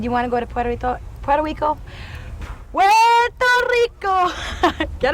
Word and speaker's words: Puerto Rico: and there's something about Puerto Rico in in the Latin culture and um and I think the correct way to say it is Puerto Rico and um like I